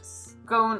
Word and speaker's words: Scone: to sit on the now I pronounce it SC of stone but I believe you should say it scone of stone because then it's the own and own so the scone of